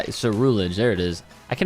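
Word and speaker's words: Ceruledge: Surrilage? Nah, we're good. Oh! Yo, he looks so sick. Him and Armor Rouge. Surrilage. Cerulege. Cerulege. That's how. Cerulege.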